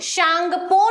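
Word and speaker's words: Tsangpo: अगर इसको इंग्लिश में अपन लिखते हैं तो सामने में टी लग जाएगा, है ना। उसकी स्पेलिंग में ऐसा होता है कि कई वर्ड्स मिसिंग हो जाते हैं इंग्लिश में, लेकिन उसको पढ़ा जाता है।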